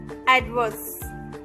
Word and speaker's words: adverse: The next one इज एडवर्स, ADVERSE, एडवर्स। एडवर्स की spelling में आर जो है वो साइलेंट है, तो उसे हमें नहीं बोलना है।